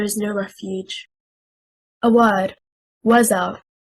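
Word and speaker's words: وزر: The correct stress is on the first حركة, حركة الواو. If we say wazar, it becomes 2 words, a conjunctive waw plus zar, a verb. We separate the word into 2 words.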